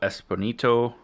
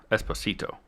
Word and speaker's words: Esposito: of MAF Gideon uh Giancarlo esponito Esposito Esposito I'm sorry I said it wrong um also I don't